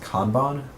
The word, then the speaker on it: Kanban: a Kanban and scrum Kanban so sometimes pronounced con bond i'm going to call a Kanban because i like that and i want